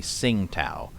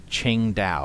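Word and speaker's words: Tsingtao: to sing tau and many people assume that the t the first t is silent and that it's supposed to be sing-tao but it's my understanding that no actually the way that you're supposed to pronounce it according to the chinese themselves is like ching dao or something like that it's like then why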